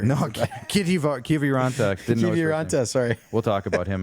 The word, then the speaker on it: Kiviranta: I'm great at pronunciating Finnish names. You'll see. We couldn't get Kitivar. No, Kiviranta. Kiviranta, sorry.